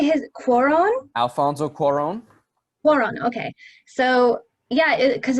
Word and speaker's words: Cuarón: Alfonso Cuarón.